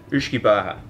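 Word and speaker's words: uisce beatha: In Ireland, in Gaelic, this is pronounced Uisce Baha.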